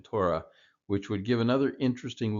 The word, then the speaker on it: Torah: thought about, is oftentimes the He is silent. You could also see the He replaced with an aleph to get the same pronunciation, Torah, which would give another interesting look at the meaning of Torah.